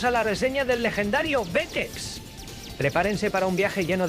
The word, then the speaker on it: Xexex: Lanzado en 1991, Vexx, pronunciado Vexx, es quizás el último shooter de Konami, una culminación del arte que habían perfeccionado durante la última década.